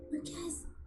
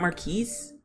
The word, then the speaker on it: Marquez: Marquez, I'm so Oh, his name is Marquez. It's not Maris.